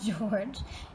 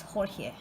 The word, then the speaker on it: Jorge: So this is like a Latin Hispanic name, so they say the J is silent. Okay, so that's why I keep saying it sounds like I'm going crazy, but it's actually it's not George, it's Jorge.